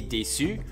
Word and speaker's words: déçue: La fille là-bas, elle est déçue. On ajoute un E à la fin. We add an E at the end. So, almost exactly the same. Pronunciation is the same.